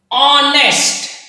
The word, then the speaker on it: honest: Honest, here h, here h, but here H is silent, यहां पे H silent है, इसीलिए उसका प्रोनाउंसिएशन होता है honest, ओ।